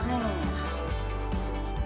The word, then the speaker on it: frères: As is silent, j'ai 3 frères.